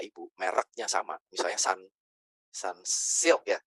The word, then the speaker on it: Sunsilk: Perhatikan shamponya Bapak Ibu mereknya sama misalnya Sun Sun Silk ya bacanya Sunsilk ya saya karena Jawa seringnya ngomongnya Sunslick biar lebih gampang.